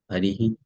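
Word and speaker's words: हरिः: So now when you make the pronunciation of the word, it will be Harihi. Here the vowel is A. So when you make the pronunciation, it will be Harihi.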